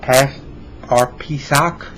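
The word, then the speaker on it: פסח: It reminds me of Pesach, P-E-S-A-C-H.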